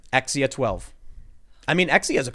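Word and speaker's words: X Æ A-12: The A and the E symbol, I was reading about it, is apparently been pronounced as I or A or E, whatever. I've mostly heard it pronounced as E, right?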